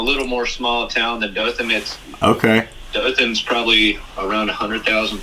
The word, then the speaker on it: Dothan: correct me if I am, but you're from Dothan, Alabama. Is that right? That's right, and you pronounced it perfectly.